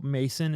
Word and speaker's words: Macin: And this is a these are Mormons, so Mason is spelled Macin, which it's some white people shit to spell names wrong, or spell names differently to be quirky.